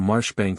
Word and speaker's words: Marjoribanks: Pronounced Cobry Flanover Marshbanks Sellers Viscount Berkeley, of Chumley Castle, Warwickshire.